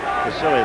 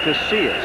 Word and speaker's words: Casillas: You see blocking on Casilius. I said it wrong again. It's Casillas. Casillas.